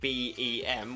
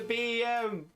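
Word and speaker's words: Beheeyem: So it sounds like you're saying BEM, which means bug-eyed monster, which is another common descriptor for alien designs. Roger the BEM.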